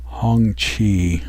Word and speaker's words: Hongqi: The 1979 Hongqi, it's pronounced, model CA770 limousine.